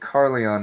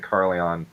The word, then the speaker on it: Carleon: The way that Carleon is spelled is Carl, as in Carl Sailor, and then Yon, Y-O-N.